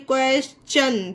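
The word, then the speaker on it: question: ये देखिए क्वेश्चन, टी को चा पढ़ा गया, क्यों पढ़ा गया, क्योंकि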